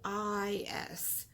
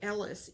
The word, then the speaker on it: Eilis: It's Eilis. So if you want to look it up, that's how you spell it. For the last 2 years, I think I've been calling it Ellis, Ellis, but that's not actually correct.